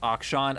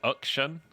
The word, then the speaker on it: Akshan: his name is pronounced if his name is pronounced action i was going to say i'm actually really really depressed by that i think it's it's like action i believe which action like it's almost like a u sound the proper syllable